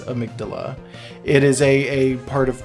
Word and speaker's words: amygdala: of Mick doula so some people say Amidala are sorry I McDonald I Magdala I believe the proper pronunciation is amygdala it is a part